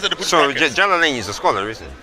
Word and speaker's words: Jalalain: Jalaluddin or what? No. Jalalain. That's how they pronounce.